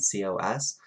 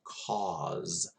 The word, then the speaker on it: cos: And then COS, you say that one as cause in your in English accent. It's cos for me, but it's cause for you.